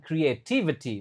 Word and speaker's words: creativity: Cree. Nah, itu yang pertama kri. Lalu E, Ce, lalu t lalu V, lalu ti. Wah, waduh ini memang susah ini. Creativity. Oke, creativity ada I, ada e, lalu I, lalu E, lalu I. Jadi itu creativity.